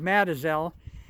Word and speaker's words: Mazatzal: map it's spelled mazatzal but at the local pronunciation is Madison I know I'm kind of shooting off to